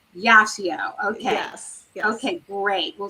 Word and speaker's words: Yacio: It's Yacio. Yacio.